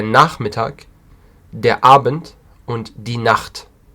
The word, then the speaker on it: Nacht: Please don't make the wrong pronunciation for the last one, because many people say Nacht. It's not Nacht, it's Nacht. Die Nacht. The CH is like a ch. Yeah, it's a very strong sound.